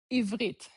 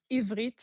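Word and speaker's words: עברית: Ivrit. That's how you say Hebrew. Ivrit.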